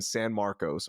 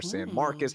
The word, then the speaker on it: San Marcos: Blue River camp in San Marcos or San Marcus however you want to pronounce it it's a 2 and